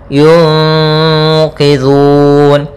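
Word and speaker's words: يُنقِذُونِ: Kemudian qidhun, zu hati-hati jangan sampai dibaca dengan zu, jangan pakai zai gitu ya, tapi pakai zal.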